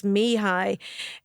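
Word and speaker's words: Mihaly: it is is phonetically so it's Mii um Chek Mii that's his name and Mii is spelled something like m i k h a l so Mii I'm glad you said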